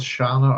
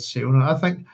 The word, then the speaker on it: Siona: Shall we go with Shana or try and keep it at Siona?